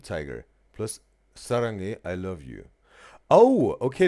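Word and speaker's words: 사랑해: And Sarange is the he at the end, right?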